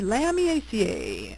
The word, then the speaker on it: Lamiaceae: The lamb eaca, otherwise known as the mint family, phonetically spelled lamb eaca.